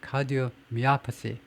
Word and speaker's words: cardiomyopathy: cardiomyopathy. 여기 primary, 여기 secondary, cardiomyopathy라고 읽을 겁니다.